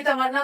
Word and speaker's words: तमन्ना: लेकिन फिर जब उन्होंने अपना नाम चेंज कराया, तमन्ना हो गया, लेकिन वो तमन्ना ही बोलते हैं उसको।